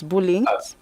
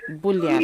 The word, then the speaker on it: Bouillon: So you say it's info at Bullying? Bouillon Labs. So Okay. it's pronounced Bullion. Bullion.